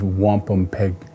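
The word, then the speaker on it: wampumpeag: The true Algonquin pronunciation is wampum peg.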